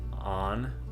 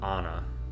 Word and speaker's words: Anne: which actually I think a lot of people in America say it as Anne Frank, but I was watching a video from her dad today, and I believe the correct pronunciation is On or Anna. He said it kind of both ways in the video. I didn't really study it out. I do like the Anna version better than Anne, but for the sake